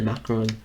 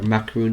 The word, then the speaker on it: macaron: Eclair, the Bayonet, and the Macaron, for example, or Macaroon is the correct way of pronouncing it.